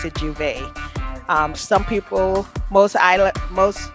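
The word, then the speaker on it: J'ouvert: of carnival we would have this event called juvent we pronounced the juve some people most isla most stateside people pronounce it juvert but we pronounce it juve well that's um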